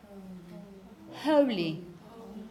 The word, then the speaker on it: holy: it's exactly the same but there's no consonant cluster so in this case you have a long vowel which is a big